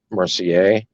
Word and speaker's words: Mercier: george uh mercier and i think it's french i think it's pronounced mercier it's m-e-r-c-i-e-r and he